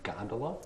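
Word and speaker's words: gondola: me the exact pronunciation of the word it is spelled gon do la Bailey gondolo that's correct Mary Cassatt hated conventional art so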